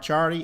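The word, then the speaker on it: Ciardi: uh podcast mark chardy look mark charlie up it's spelled c-i-a-r-d-i mark charlie is one of the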